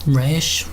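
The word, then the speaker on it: Resh: about this last bit here so spell trashed pronounced rash it's essentially means ahead and that's where our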